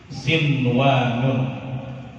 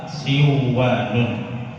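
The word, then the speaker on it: صِنْوَانٌ: Yang pertama adalah sin wa nun. Walaupun di situ ada nun bertemu dengan waw, tidak boleh kita idghamkan, tidak boleh kita masukkan, tidak boleh kita baca siwanun, tapi dibaca jelas sinwanun.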